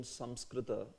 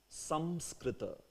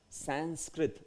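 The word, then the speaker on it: संस्कृत: If you wish to pronounce Samskrita, then this is the pronunciation. Samskrita. Samskrita, that's the pronunciation actually.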